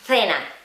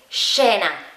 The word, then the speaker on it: scena: Y no es así, acordaos que la C delante de la E no se pronuncia como creemos que se pronuncia. Así que realmente es como una SH, es un poco extraño, es difícil de decir. Pero en esta situación tú deberías decir scena.